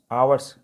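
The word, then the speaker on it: hours: देखिए मैंने पिछले बताया ना, पिछले उसमें कि स्टेप में एच साइलेंट हो गया, यहाँ पे आवर्स आया, आ की प्रोनाउंसिएशन हो रहा है, तो हमने एन का यूज किया।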